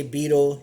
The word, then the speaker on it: betel: Some people say betel nut. I actually say it's betel nut because it's spelled Betel, betel. You can say beetle, you can say whatever, but it's betel to me.